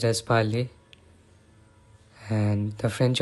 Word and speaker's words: parler: And also, many French words have silent letters, especially at the end. For example, the word parlor is pronounced as parler, and the French R is also unique.